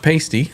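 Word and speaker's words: Paiste: Elgin across the Lord It's pronounced pasty like the sticker on boobs okay hit metal works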